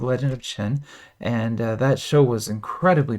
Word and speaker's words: Qin: When you see the letter Q, like this, Qin, Q is pronounced like ch in China in Mandarin, so it's like Qin or Qing, without like less G at the end, like more of a Qin kind of sound.